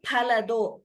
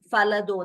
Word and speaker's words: फलदो: Pa is Mahaprana and Pa, as we have been saying repeatedly, Pa has to be pronounced in Sanskritam as Pa only, not as Fa. We cannot chant it as Falado.